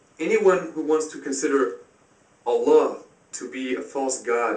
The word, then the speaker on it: Allah: the aramaic is allah but without emphasizing the el has this one l without a doubt allah it can also be pronounced allah the arabic word is allah the difference is mainly the the elongation of allah as opposed to allah you can find this